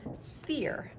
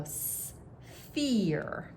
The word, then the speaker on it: sphere: call that a sphere now check out the word sphere sphere you see you're like wow where's where's the f remember that ph makes the f sound so s fear okay oh look some